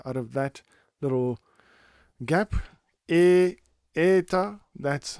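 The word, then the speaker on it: η: EA. That's how you pronounce ETA. It is similar to the way you would say an e in the word hey e but without the y at the end.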